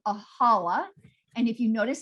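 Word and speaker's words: challah: egg bread called a holla and if you notice it's spelled with a ch because it's like a collar we don't have that you know it's especially we don't have that sound in english but it's traditional to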